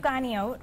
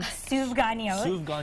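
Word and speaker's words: סופגניות: Souvganiyot, which is a fried donut. How do you say that again? Souvganiyot.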